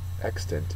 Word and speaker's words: extant: Extant is the word. It's an adjective, first syllable.